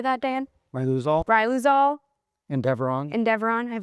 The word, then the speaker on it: Riluzole: Ryuzal.